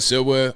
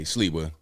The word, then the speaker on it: Sliwa: Silva. Hold on. Let me look it up. Sliwa. Okay, Sliwa.